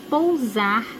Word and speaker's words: pousar: s ou Z Leia as frases viu avião pousar na pista quero posar para um fotógrafo profissional